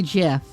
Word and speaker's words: GIF: There is a brand of peanut butter called Jif that is spelled J-I-F. And the creator of the GIF, the graphics interchange format, literally said he named it after the peanut butter. So it is supposed to be GIF.